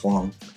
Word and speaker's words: Huang: is huang um so it sounds more like h-u-a-n-g um and i looked up her chinese name is so uh it checks out they actually pronounce hwang nice yeah yes yes